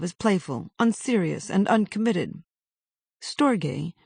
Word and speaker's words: storge: Storge, rhymes with morge, is an affectionate, brotherly, or sisterly